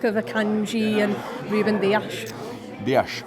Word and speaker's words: Dias: Dias, great pronunciation. Thank you, thanks so much. Excellent. Portuguese there.